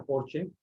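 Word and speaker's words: Porsche: vas a por ciento lee se pronuncia por che aunque suene mal así es porche y es lo mismo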